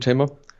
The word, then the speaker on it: Tama: I know there's a discussion how to say the brand Tamer. Just call it Tamer. I thought it was Tama or something like that. Tamer, thank you.